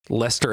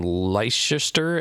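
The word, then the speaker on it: Leicester: oh no but see Lester is spelled the English way so that means that it's uh actually sophisticated yeah it is spelled le e i c s t e r which for a while I called him Lister and I I I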